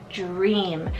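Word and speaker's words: Jream: Next up is Dream, and Dream is spelled J-R-E-A-M, Dream.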